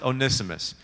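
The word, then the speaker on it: Onesimus: to how to read it right so it's pronounced onimus so onimus this slave the servant the entire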